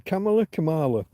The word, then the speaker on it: Kamala: The pronunciation, Kamala. Wherever you want to put the emphasis.